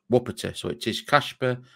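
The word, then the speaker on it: Łopata: medical polish friends and it is pronounced wopita so it is Casper wupperta four-year deal is signed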